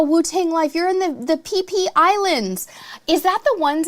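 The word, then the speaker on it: Phi Phi: I know it sounds weird because it's spelled PHI, but that is so cool.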